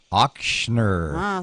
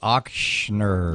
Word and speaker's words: Ochsner: on that today - I think that's the first time you said it right maybe auktioner thank you it's like auktioner yeah well I can